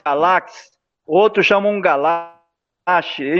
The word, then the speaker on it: Galaxe: É é entendeu então como é que se pronuncia como é que você fala o seu sobrenome Galaxy Galaxy outro chamou unga lá achei Então ninguém para